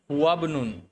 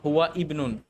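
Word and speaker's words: هو ابن: তখন আমরা এভাবে বলি হুয়াবনুন অর্থাৎ আমরা এই হামজাটাকে স্কিপ করে গেলাম হুয়াবনুন নট হুয়া ইবনুন এটা না কিন্তু হুয়াবনুন এরকম ঠিক আছে আচ্ছা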